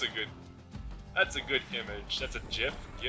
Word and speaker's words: GIF: It's like that badger gif. Oh yeah, that's a good image. That's a GIF. K is for kid. Did you just say GIF? Seriously, like with a J?